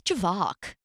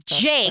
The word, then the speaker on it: JVKE: used to be like I was like who's javock it's like Java and Tony my co-host would be like can you stop it's Jake and I was like I'm forever calling him